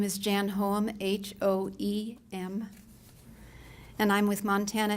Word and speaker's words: Hoem: Hello, my name is Jan Hoem, H-O-E-M, and I'm with Montana Elders for a Livable Tomorrow.